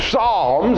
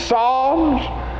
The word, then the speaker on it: psalms: for that and so we hear that little sound when we say psalms it's not a psalms it's songs but that if you